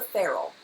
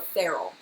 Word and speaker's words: ferrule: All right, it's called the ferrule. Okay, it's like Will Ferrell. That's how you pronounce it.